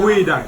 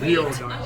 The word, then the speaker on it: geoduck: Oh, geoduck! I can't even pronounce it. Dang it. gooey duck. Oh, gooey duck. Yeah, not Gil duck.